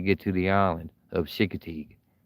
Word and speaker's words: Chincoteague: to the island of Chincoteague. Chincoteague. To say it slow. Took me a while to say it right.